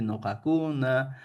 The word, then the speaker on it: ñojacuna: En la forma escrita debemos escribir siempre ñojacuna. A pesar que yo pronuncie nojacuna, nojacuna, ñojacuna, de las cuatro formas que está presente en el material, yo debo pronunciar como nojacuna.